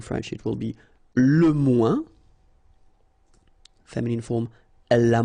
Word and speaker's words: moins: Okay, so le moins, remember when we combine this O-E-N together, we get the sound ouin, ouin, ouin, okay, and we don't pronounce this final S.